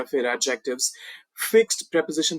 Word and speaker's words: preposition: जी हाँ, इसको प्रीपोजिशन मत बोलिएगा या फिर प्रीपोजिशन तो बिल्कुल भी नहीं। प्रेपोजिशन, प्रेपोजिशन ये है इसका एक्चुअल प्रोनाउंसिएशन।